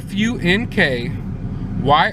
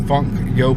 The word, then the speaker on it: Funko: didn't know and it's some people freaking mispronounce that call it funky Oh pop no that's not the name of the Instagram it is Funko pop basically when I created